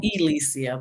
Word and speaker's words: Elicia: Well, it's really Elicia, but people say it wrong all the time.